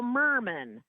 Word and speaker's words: Merman: And then we go all the way we go all the way to November with somebody whose name whose rhymes with Herman, which is Ethel Murman.